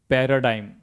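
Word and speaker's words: paradigm: देखिए जब शब्द के अंत में क्या हो? जी एम हो तो उस कंडीशन में भी हम जी का उच्चारण नहीं करते। जैसे पैराडाइम पी ए आर ए डी आई जी एम।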